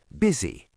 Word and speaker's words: busy: Be careful, because the letter U is pronounced as a short I. Busy.